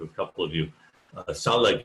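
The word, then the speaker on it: Tsalagi: couple of you uh salah is how they would have said who they were it's spelled roughly t-s-a-l-a-g-i because they don't have the ch sound or the r sound just as english doesn't really have the ts sound which other languages do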